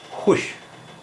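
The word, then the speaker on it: خوش: इसी तरह खुश, खुश यहाँ भी वाव की आवाज़ नहीं आ रही, खुश।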